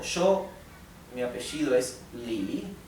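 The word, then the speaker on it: 李: nombres de frutas y se pronuncia con el tono que baja y sube que es el llamado el tercer tono Li también es el nombre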